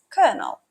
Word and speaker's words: colonel: To further illustrate, let's look at the word colonel. Now, one might expect it to be pronounced as it's spelled, colonel, but English being English throws a curveball. It's actually pronounced as colonel.